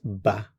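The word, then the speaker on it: bats: So, for the je form it's ba. And we're not pronouncing the t or the s.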